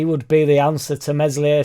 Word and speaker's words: Meslier: be the answer to meslier silent s obviously never happened a